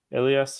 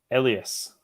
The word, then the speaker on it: Elias: had an alarm definitely Elias is pronounced with an e in like yes Elias Elias okay very nice to